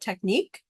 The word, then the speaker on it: technique: in this case, it sounds like neek, like Neek, for example. So it's hard to spell if you're just sounding it out the way it should be sounded out, technique.